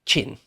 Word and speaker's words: Qin: there you go yeah Quinn is his chin for a start but